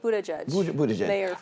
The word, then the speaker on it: Buttigieg: do you say his name um uh pete buddha judge i like his i like his poise you